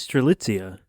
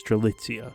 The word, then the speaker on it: Strelitzia: First of all, just quick, there is some disagreement on the pronunciation of her name. However, when I looked into it, every pronunciation I could find online was Strelitzia, so that's what I'm going with for now.